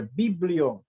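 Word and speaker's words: βιβλίον: A palavra Bíblia, ela vem do grego e significa e pode ser pronunciada da seguinte maneira: biblion.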